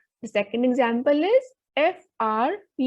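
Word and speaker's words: fruit: The second example is F-R-U-I-T. Vowel U is coming in between a word, so the pronunciation will be frui.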